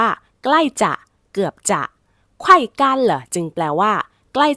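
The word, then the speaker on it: 干: หนัก นั่น เอง ค่ะ กัน กัน แห้ง คำ นี้ เดิม อยู่ ใน hsk4 นะ คะ อักษร ตัว นี้ เป็น ตัว ยิ้น จื ค่ะ ก็ คือ ออก เสียง ได้ หลาย เสียง และ มี หลาย ความ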